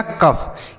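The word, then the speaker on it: cough: C से हो गया क, OUGH को अफ, तो इसमें मिलाकर बनेगा कफ।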